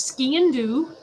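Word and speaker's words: sgian: And this one I can pronounce. It's Scian, which means black knife, and it's commonly used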